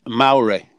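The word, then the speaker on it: Māori: You know, the other day you was trying to pronounce that language in New Zealand. Yeah. Maori? Okay. It's Maori.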